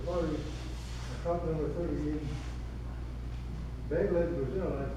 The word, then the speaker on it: Belém: Now, we're coming up with the auspices of the party, COP number 30 in Belém, Brazil, that's how they pronounce it.